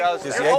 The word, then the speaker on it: pâtissier: pâtissier, how do you pronounce Here's that? what Pâtissier? you're doing. Pâtissier, that's the pastry else chef, there right?